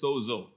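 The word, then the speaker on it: σῴζω: word save is from the greek word word pronounced as sozo it means to save to heal to deliver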